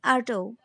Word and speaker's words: Artaud: Friends, you can also pronounce Artaud as Artaud.